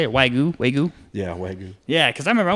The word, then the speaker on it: Wagyu: Yeah, Wagyu.